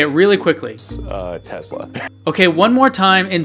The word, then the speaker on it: Tesla: He says it the way I say it, with the Z sound.